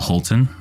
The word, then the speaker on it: Holtin: blogger very successful and we also have Rachel Holton am i pronouncing that correctly yeah that's right she is